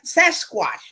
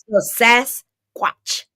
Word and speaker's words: Sasquatch: I can't I cannot I had to go listen to the pronunciation like SAS watchat like a watch s watch but when you say Sasquatch yeah yeah sasat got